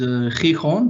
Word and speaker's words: Gijón: The name of the city is Gijón. This is how it is pronounced in Spanish.